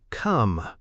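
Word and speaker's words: Côme: This guy's first name was actually come, Chesterfield replied without humor, pointing to the body above us. He pronounced it like comb. It's a French variant of the name Cosmo, said the photographer.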